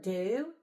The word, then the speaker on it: do: And that's funny because the word do sounds like a long u but it's spelled d o words.